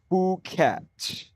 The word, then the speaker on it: Phuket: Blind listener um with the pronunciation fuket. F O ke. Fuket.